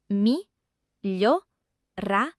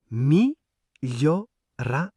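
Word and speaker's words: migliorare: Syllabes. Mi gio ra, re. Mi gio ra. Le son glio. Encore une fois, exactement comme famiglia et sbagliare.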